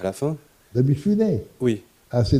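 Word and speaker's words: Mifune: d'acteur de Toshiro mifounet à la fin de mifounet oui ass c'est n founet on dit ou je le prononce à la française un acteur qui joue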